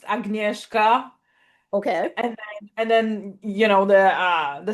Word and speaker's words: Agnieszka: So it's pronounced Agnieszka, Okay.